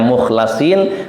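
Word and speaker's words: مخلَصين: Ada sebagian ahli qiraah membacanya mukhlasin, ada membacanya mukhlisin.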